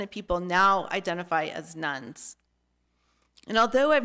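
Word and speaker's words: nones: According to the Pew Research Center, an increasing number of Americans are leaving Christianity and instead identifying as nuns, and that's spelled N-O-N-E-S and not N-U-N-S.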